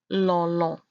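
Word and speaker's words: lɔlɔ: The backward C you see there is pronounced O, not O, but O. So the word is lolo.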